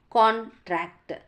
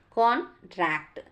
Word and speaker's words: contract: and bad for instance the word contract is stressed differently depending on its part of speech as a noun contract that means stress on the first syllable next one is as a verb contract that means stress on second syllable next one is morphology